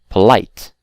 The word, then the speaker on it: polite: on the first syllable but again we have exceptions like the word afraid you can clearly see that these stress is on the second syllable so afraid or polite okay these are exceptions